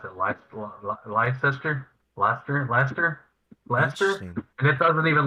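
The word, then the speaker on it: Leicester: called uh it's pronounced uh i think they pronounce it lights life sister blaster lester lester and it doesn't even look like luster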